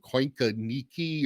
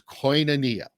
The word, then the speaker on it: koinonia: that comes up is what in the world is this word coinca nikki or kikanoki or well it's koinonia and a lot of